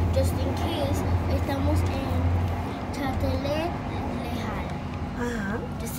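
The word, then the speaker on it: Châtelet–Les Halles: So if we maybe we get lost, we can ask, hey, just in case, estamos en Châtelet Lejal. Uh-huh. Châtelet Lejal.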